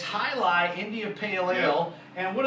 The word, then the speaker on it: Jai Alai: probably call that what jai alai something like that but obviously that would be like saying jalapeno right so the J is silent and it's High Lie India pale ale and